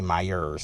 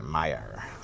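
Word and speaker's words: Meijer: See, I said it right that time. I didn't say Myers. I said Meyer.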